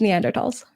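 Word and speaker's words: Neanderthals: pronounce it it's no the H is silent it's neander TS oh I I took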